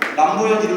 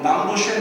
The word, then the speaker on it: 남보현: 여러분 제가 중국 사람 만나서 남보현 이름 석자를 한자로 적어주니까 뭐 남보쉔 뭐 이렇게 발음하더라고요. 여러분 그 이름도 제 이름이지만 남보현이 정확한 것이죠. 그렇죠? 미국 애들한테 제가 하면? 뭐 이상하게 하죠. 그 친구들은 저를 부른 거지만 저의 정확한 이름은 남보현인 것처럼 여러분 하나님의 이름은 야훼세요.